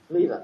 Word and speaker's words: Leyva: Leva.